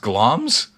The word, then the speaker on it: Glamis: the time the monst GL pronounced glams wow I've been pronouncing